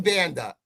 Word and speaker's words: Banda: Ephraim Banda, is he getting any DC offers in the NFL? His last name rhymes with Panda.